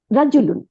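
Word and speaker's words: رَجُلٌ: আসসালাম ওয়ালাইকুম আসসালামু আলাইকুম আরবিটা কি রাজুলুন এই যে র জবর জিমের উপরে পেশ লামের উপরে দুই পেশ রাজুলুন রাজুলুন মানে একজন পুরুষ লোক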